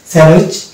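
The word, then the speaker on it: sandwich: ভাবে শব্দগুলো হয়ে যাবে স্যান্ডউইচ আমরা ডি কে উচ্চারণ করবো না স্যান্ডউইচ হ্যান্ড কারচিপ ওয়েন্স ডে তাহলে এই হচ্ছে এটা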